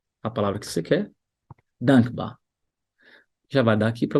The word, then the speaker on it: dankbar: Dankbar, dankbar, Dankbar, dankbar, dankbar. dankbar, Tá vendo que você não puxa o R no final? Não é dankbar. Você fala só ba.